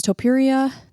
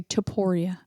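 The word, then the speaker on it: Topuria: versus pyer very excited about that volkanovski versus Topia that is UFC 298 I'm sorry Toria I always pronounce it wrong Moreno versus albazi that is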